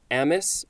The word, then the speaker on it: Amis: And that is from Kingsley Amis or Ami. It is spelled A-M-I-S.